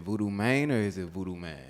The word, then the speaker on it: Vudu Mane: man or is it voodoo man no it's voodoo man voodo voodoo man yeah like Gucci man okay that's but you